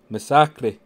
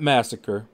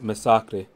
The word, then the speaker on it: Misaki: is a good plan Misaki just in case you guys wanted to know how to pronounce his name that's how you pronounce his name not massacre but Misaki all right now we're back